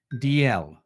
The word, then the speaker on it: Dalzell: Oh, so how do you say it in a Scottish accent? DL. The two letters DL. DL. DL? That's how you pronounce it in Scottish accent? DL. The first letter and the last letter.